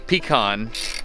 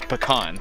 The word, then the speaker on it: pecan: You're saying pecan, and it's everybody knows it's pecan. It's or pecan. You know, I've heard it pronounced three different ways in the two counties. Yeah, pecan, pecan, pecan. You know, you hear them all.